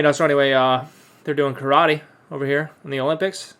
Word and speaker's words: karate: it's a martial art karate or as it's pronounced in japanese karate which means empty hand